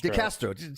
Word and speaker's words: DeCastro: uh this guy chili DeSanto is that he pronounce it the Castro yeah that's right it's julita Castro and I